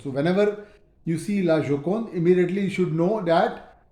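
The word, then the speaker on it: La Joconde: a laon j o c o n d laokon so whenever you see lokon immediately you should know that it refers to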